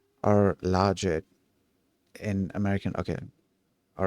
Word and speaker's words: logit: How is the word logit, logit pronounced? Um, it's pronounced slightly different. It's pronounced in slightly different ways depending on the regional accent, but here are the common pronunciations.